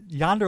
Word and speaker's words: Yonder: wait y why what y o n d like like Wonder okay am I putting